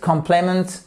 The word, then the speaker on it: complement: Complement, sorry. Première syllabe, vous voyez quoi? Que vous avez votre accent tonique qui se dit exactement, stress en anglais. Vous le savez, dans tous les mots en anglais qui ont 2 syllabes ou plus, vous avez une de ces syllabes qui est accentuée.